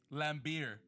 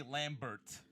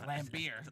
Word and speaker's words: Lambert: It's spelled Lambert. Yeah. Back in the day, I was calling my man Andre Lambert. But then he had to correct us. He was like, no. He said, no, it's Lambier.